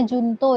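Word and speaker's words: juncto: Itu Jo itu bacanya Junto, itu bukan Jo.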